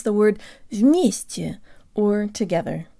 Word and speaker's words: вместе: to pronounce the word вместе, or together. In the US, some people say eggs, but others say eggz, and that's the sound we need for the stressed ye.